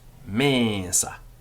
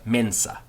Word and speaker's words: mensa: the example of now latin vowels before the letters n s are long so it's mesa not mensa but and it's slightly nasalized but not very much so tua mesa your